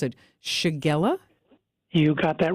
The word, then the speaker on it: shigella: of antibiotic I'm you know I'm going to mispronounce it shigella you got that right suits of concern to